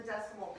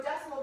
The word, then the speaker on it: decimal: So decimal, people usually say decimal, but it's actually a 3-syllable word.